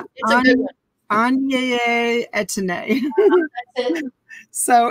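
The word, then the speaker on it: Aigner: Oh, wait, before you go, tell me how to pronounce this. Oh, that's Anye Etienne.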